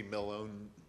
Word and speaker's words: Millhone: the chance to ask sue hush I should pronounce her last name Millhone is what I've always said yes sue and